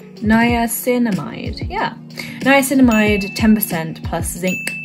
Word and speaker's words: niacinamide: Now here's where the pronunciation gets a bit tricky. Niacinamide. Yeah. Niacinamide 10% plus zinc 1%.